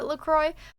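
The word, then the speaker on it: LaCroix: Isa says, "I'm pretty sure the company pronounces it LCroy."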